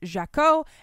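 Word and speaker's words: Jacquot: week I was like jacquat Jack I don't know how to pronounce it I looked it up the French pronunciation of this word is jao and so I'm calling her Lee jao all right this book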